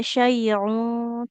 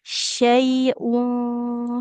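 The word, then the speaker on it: شيء: Diulangi sekali lagi dalam pengucapan huruf hamzahnya jangan seperti ain ya. Tidak syaiun tapi syaiun fil ardhi.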